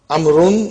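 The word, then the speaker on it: عمرو: As you can see, the proper name Amrun is written with waw, which is not pronounced.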